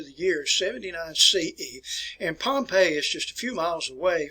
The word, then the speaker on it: Pompeii: city which is called pompeii that's where it's pronounced and you know don't confuse it with the pronunciation of pompey poppy the great who was